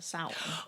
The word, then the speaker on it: Samhain: mother so it's based on the pagan holiday samhain which is spelled s-a-m-h-a-i-n but it's pronounced south oh shimara is gonna sound in on this